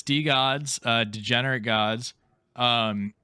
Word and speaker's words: DeGods: Wait, where does the name DeGods come from? And is it DeGod? Degenerate gods. Oh, It's DeGods, yeah.